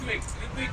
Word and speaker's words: Ritwik: If I look at this guy, it makes me feel hungry because his name rhymes with Bigwig. Ritwik, he's the chief car tester.